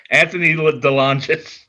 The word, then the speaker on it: Anthony DeLongis: And I keep mispronouncing his name, and he's a tough guy, and he's going to beat me up. Anthony DeLongis.